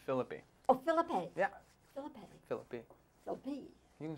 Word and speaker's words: Phillippe: philippe oh philippe yeah phillippe you can say no am i giving it now the italian pronunciation no i think it's it's derivative of the french philippe and then it was americanized because the french people